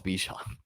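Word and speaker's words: Bijan: It's Bjan.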